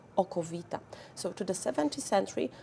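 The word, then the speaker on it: okowita: So we also start to call it aqua vita, from Latin, water of life, or how Polish people would pronounce that, oko vita.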